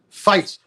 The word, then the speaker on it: Feit: you pronounce your name fight fight fight as if phonetically spelled it f-i-g-h-t correct perfect that's what i'm